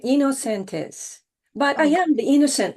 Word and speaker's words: Inocentes: the kind introduction jamaa the pronunciation of my family name is you are right innocentis but I am the